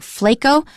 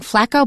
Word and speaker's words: Flaco: Now, you notice how inconsistent I'm being because I originally started saying Fleco, but I found Chris's suggestion very convincing. I started saying flaco, but then I went back to my original pronunciation. Then back to Chris's.